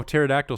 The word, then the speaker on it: pterodactyl: you know you know pterodactyl starts with a silent p so when you see